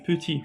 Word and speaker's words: petit: Le petit, on n'a pas prononcé T.